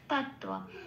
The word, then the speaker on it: তত্ত্ব: তত্ত্ব। আচ্ছা, এখানে তয় তয় ব আছে, একটা ত হসন্ত লাগিয়ে বাইরে বের করে এনে অর্ধতা তৈরি হলো। অর্ধতা মানে আগের অক্ষরের সাথে জুড়ে সে উচ্চারিত হতে পারবে।